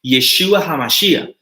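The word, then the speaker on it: ישוע המשיח: No hablo hebreo, pero la pronunciación es Yeshua HaMashiach, que significa Jesús el Mesías.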